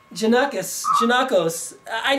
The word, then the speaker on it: Janakos: So it's all up to you by Janakos? Yes. Janakos. Janakos. But that's an O at the end. How can you say What's the O? Janakos.